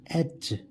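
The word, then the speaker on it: etch: लगाएंगे एग्जांपल लेते हैं इसका एच स्पेलिंग होती है ईटी सी एच इसमें टी साइलेंट होता है स्पेलिंग में तो हम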